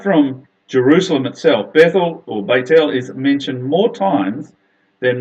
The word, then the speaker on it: Bethel: a very important place it's literally pronounced not Bethel of course it's pronounced Beit el which literally means the